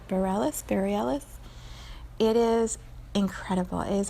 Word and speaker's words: Bareilles: It's by Sarah, I think you pronounce it Bareilles.